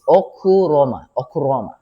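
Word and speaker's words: ὀχύρωμα: But if you read it outright, Okairoma or Roima, Okairoima, but the pronunciation is Okuroma.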